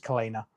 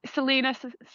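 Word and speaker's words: Celaena: So I felt that the main character, I'm probably going to pronounce it wrong, but in my head it was Kalena. It's Selena.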